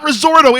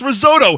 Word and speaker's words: risotto: It's not Risorto, it's risotto. And then you fucking Google some other retard pronouncing it Risorto. I'm like, yeah, you just proved it was pronounced wrong. There's no fucking R.